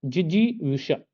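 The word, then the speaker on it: जिजीविषा: य पढ़कर आए हैं जिजी विष जिजी विष जिजी विष ऐसे उच्चारण करिए जेष्ठ टा टा नहीं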